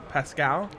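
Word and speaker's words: Paschal: compressed lions are going josh pasquel pascal love that when in doubt french pronounce by the way josh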